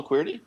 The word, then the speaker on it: Queerty: a little while but it's qu it's queer it's spelled qu e e RT Y and of course it's a take on the keyboard the QWERTY keyboard not everybody knows that